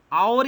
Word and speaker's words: hour: Hour is pronounced as hour and honest is pronounced as honest, not HONEST.